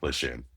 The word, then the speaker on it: Lejeune: Okay, It's Camp Lejeune. because there's a little bit of talk that's Camp Lejeune. Well, that depends on where you're from, but it's Camp Lejeune.